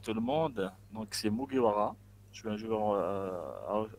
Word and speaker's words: Mugiwara: C'est comme ça qu'on prononce? C'est Mugiwara.